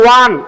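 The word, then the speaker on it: one: আচ্ছা, অরেঞ্জ আর ওয়ান, এই দুইটার মধ্যে পার্থক্য কি? অরেঞ্জটা উচ্চারণ করতে ও এর মতো হচ্ছে, আর এখানে ওয়া, ও এর উচ্চারণটা কিসের মতো হচ্ছে?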